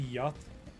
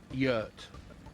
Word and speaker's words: yurt: So, two quick things on pronunciation. Yeah. Is that meant to be Yut? Yurt.